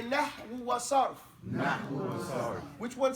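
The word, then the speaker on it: نحو: N-A, this is an A in Brooklynese. N-H-W-U. Nahu. Nahwu.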